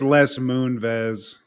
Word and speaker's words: Les Moonves: I think it's Les Moonves. Like Moonves? I think it's phonetics, but that's wild.